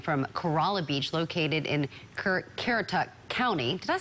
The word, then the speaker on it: Currituck: This is a live webcam from Kerala Beach, located in Currituck County. Did I say that right? Yep, Currituck County.